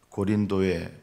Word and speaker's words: 고린도: 철학의 중심지요, 우상의 중심지라고 할 수 있는 아테네를 떠나서 고린도에 바울이 이르게 됩니다. 이 고린도는 고린도전서, 고린도후서를 받는 그 고린도입니다. 이 고린도라는 말은 요즘 발음으로는 코린트라고 하죠.